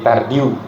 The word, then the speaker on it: Tardieu: bintik tard Ya tardieu tulisannya ya bintik tardieu tapi dibacanya bintik tardiu ya bintik tardiu itu